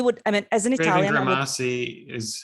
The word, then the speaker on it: Grimassi: We would, as an Italian— Raven Grimassi is how I've heard it pronounced. Yeah, so it's, very similar to, in Italian, we would say Grimassi.